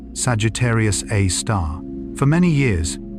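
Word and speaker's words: Sagittarius A*: Astronomers call it Sagittarius A, usually pronounced Sagittarius A star.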